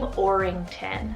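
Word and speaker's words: Aurington: for a newcomer here i have the name orington spelled a-u-r-i-n-g-t-o-n orington and this one means town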